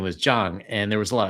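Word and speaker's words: Zhang: Uh, so had a had a teacher whose name was Jang and there was a lot of Taiwanese there and they're they use the southern pronunciation so they call him Zang.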